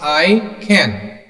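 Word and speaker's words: ICANN: also called icon okay it pronounced i can which stands for internet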